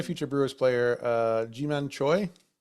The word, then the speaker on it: Choi: Uh yeah, another future Brewers player, uh Jim Choy, pronouncing that rightly.